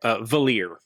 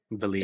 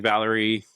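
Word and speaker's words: Valere: Valir is how you say it. Valir. Disclaimer, got it right.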